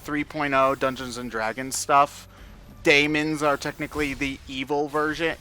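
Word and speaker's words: dæmon: I was like, oh, so they're they're pronounced like daemons. Because it's the DA.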